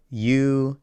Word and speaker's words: yo: as yo or Z kind of with like a fancy J sound you can basically just